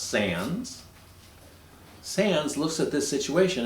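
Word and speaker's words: Sandys: like it's be pronounced sandy's but it's pronounced sans sans looks at this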